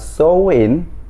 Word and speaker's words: Samhain: yang disebut dengan perayaan show in atau ditulisnya itu samhain kwen tapi dibacanya show in the the show Ini adalah